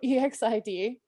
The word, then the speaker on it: EXID: And so the group I want to talk about is Exid. So, which actually, now that I say that, I know I'm saying it wrong too. I read that also the other day. EXID.